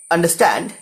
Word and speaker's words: understand: In the word understand, understand, the first two syllables, un and d, are unstressed or they are the short syllables. And stand, stand is stressed.